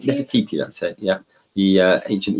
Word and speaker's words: Nefertiti: Is that how you pronounce it? Nefertiti. Nefertiti, that's it.